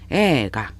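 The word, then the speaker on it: 映画: 그래서 에이가 딱딱 끊어서 발음하실 일이 아니라 에를 길게 발음하셔야 돼요. 에가.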